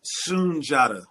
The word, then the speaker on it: Sundiata: do you say your name junj junj soon Sun Jada Sun Jada pardon me sunj sounds powerful thank